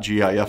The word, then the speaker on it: GIF: Wilhite has said that the acronym should be pronounced with a soft G personally I'm a soft